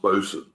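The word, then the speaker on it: boatswain: I think you mean boat Swain is pronounced bosen uh but yeah I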